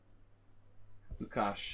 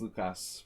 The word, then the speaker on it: Lukács: Lukács in Hungarian. I never know how to pronounce the S sound anymore. After moving here, it's Lukas probably in most places, but I had to get used to saying in Hungarian style. So everything's a sh sound.